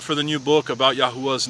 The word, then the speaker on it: Yahweh: clear that this is the only true valid pronunciation of the sacred name Yahweh be with you may place his countenance upon